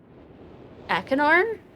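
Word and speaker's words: Achenar: at least look forward to how Cirrus and Akinar, is how you pronounce that, will react to its curious inhabitants.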